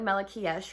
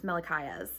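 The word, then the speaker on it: Malachiasz: cannot speak um because I think I called him like Mikes or something I'm like no it's me it's mikayas and I was like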